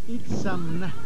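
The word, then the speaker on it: Itzamná: And how do you pronounce it? Itzamna.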